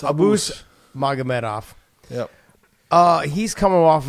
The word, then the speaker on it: Abus: It's Abus. Abus, but it's... It's Abus. Pian. Abus. Okay, so it's Abus...